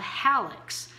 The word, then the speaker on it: hallux: toe, is called a hallux. And here's how you can remember them. You pump gas with your pollex, but you walk the hall with your hallux, which is spelled H-A-L-L. That's right, hallux.